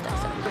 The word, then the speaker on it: Daiso: It's Daiso.